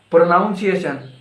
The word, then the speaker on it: pronunciation: Pronunciation. Pronunciation. It's not pronunciation, it's pronunciation. Pronunciation.